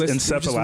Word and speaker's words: encephalopathy: No, it's encephalopathy. Listening to it on a repeat. Encephalopathy.